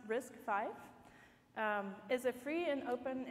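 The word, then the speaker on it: RISC-V: all right so first things first risk five pronounced risk five is a free and open instruction set architecture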